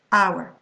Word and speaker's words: hour: You're not going to say honor, you're going to say honor, honest, honesty, air, heiress, hour, See, we can't hear, I mean, we mustn't hear the H pronounced here.